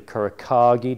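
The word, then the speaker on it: Kuro Kage: we've also got the Couric hiker cage or kurohagi depending on how you want to pronounce it these are all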